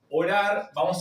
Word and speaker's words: ora: o la R final, se van a pronunciar eh cutural de la garganta como si fuera una H. Orar pronunciarlo de esta manera.